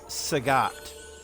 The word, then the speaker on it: Sagat: thanos thanos and for street fighter 2 it's sagat it's not bob saget god rest your soul